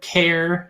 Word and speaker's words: char: there's a char or care however you want to say it it's spelled c-h-a-r um there's like a million ways i've heard this pronounced i say it char that represents a single